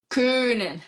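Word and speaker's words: können: Ken gente o Ken olha como é que pronuncia Ken faz boca de ó fala aí Ken o Ken ele significa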